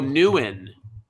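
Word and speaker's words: Nguyen: oh look at that pronounce oh newen now he thinks it's new in okay well anyway at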